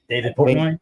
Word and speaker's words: David Portnoy: So let's start with I think like David Portnoy, was that how you say it? David Portnoy?